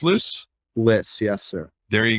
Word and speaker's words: Lyss: company and everything else harrison p is it lis pronounced list list yes sir there you go harrison p